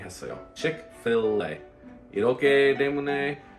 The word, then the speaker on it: Chick-fil-A: Phonetically spelling 했어요. Chick-fil-a. 이렇게 때문에 like original spelling 이렇게 어렵지. 이거 전에 프랑스 단어 어려워. 그래서 미국 사람 이렇게 fillet, Chick-fil-a, fillet.